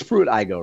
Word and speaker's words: Pruitt-Igoe: to chat me up a little bit about Pruitt-Igoe. It's Pruitt-Igoe, right? Yes, Pruitt-Igoe. I want to make sure that I pronounce that correctly.